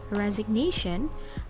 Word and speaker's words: resignation: first level and in a word resignation the primary stress is placed in the third syllable all right here I